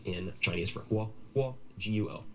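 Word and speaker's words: 国: There's a system, for instance, called GR, which stands for Guo Yu Rou Ma Zi. And you would say, have first tone in Chinese for Guo, Guo, G-U-O. Then Guo, second tone, should be country, like Guo Yu, country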